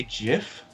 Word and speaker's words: GIF: okay you know use the Creator pronounces it Jeff so that kind of settles it Wow geez you say jiff yeah that's what the